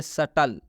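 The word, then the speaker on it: subtle: अब हम लोग इसको पढ़ेंगे सटल। क्या पढ़ेंगे? सटल। इसलिए टी के पहले बी है, इसलिए इस बी का उच्चारण नहीं करेंगे, बी साइलेंट हो जाएगा।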